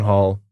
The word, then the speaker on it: Holl: No, because that's not how his name's pronounced. I know it's Holl, but you got to run with the jokes when they present themselves, Ryan.